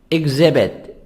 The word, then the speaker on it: exhibit: a place you visited exhibit exhibit each silent exhibit an object on